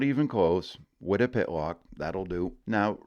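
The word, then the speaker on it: Wytopitlock: There is only one correct way to say Wittapitlock, and that is Wittapitlock. But by gory, it's fun watching folks from away trying to say something to the effect of, why top it lock?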